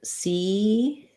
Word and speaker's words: Caesars: So either Caesars. So this S is a Z sound. The A is the AR letters say the sound, which I will write as ER, and then a Z sound at the end.